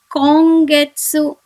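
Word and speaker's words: 今月: The third example is kongetsu, kongetsu, which means this month. The fourth example is Bankyo, Bankyo, which means study. I'll pronounce the alphabet words once again. Tanki, Ongaku, Kongetsu, Bankyo.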